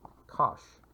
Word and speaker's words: cosh: the hyperbolic cosine and that's pronounced cosh and from these you